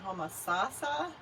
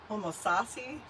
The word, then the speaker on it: Homosassa: can pronounce this right it is homo salsa i'm going to say homosassa homo sassi homo sassa florida i didn't even know